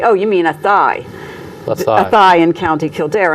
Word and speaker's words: Athea: think no no no you mean a thigh they thought i was mispronouncing it and i'm like no ate at a a-t-h-e-a county limerick very small wow beautiful